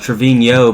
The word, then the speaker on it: Trevino: So his name is pronounced Trevino, but it doesn't have the little squiggly over the end.